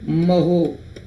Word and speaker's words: mho: इसको बोलते हैं महो, क्योंकि ओम की स्पेलिंग होती है OHM, तो उल्टी करते हैं तो MHO, महो बोलते हैं।